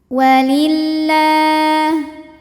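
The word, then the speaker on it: وَلِلَّهِ: Walillah. Lam jalalah dibunyikan secara tarqiq sebab huruf sebelumnya berbaris kasroh, maka dibacanya tipis la.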